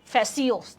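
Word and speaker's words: fascio: ইটালীয় ভাষা থেকে, ফ্যাসিওস উচ্চারণটা আমরা পড়ছিলাম, ঠিক আছে?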